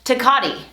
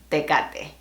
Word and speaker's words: Tecate: from Tecate, California, or as some would say, Tecate. But the original pronunciation is Tecate.